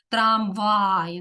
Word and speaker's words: трамвай: дві голосні відповідно так трамвай наголос на другий склад твердий приголосний р твердий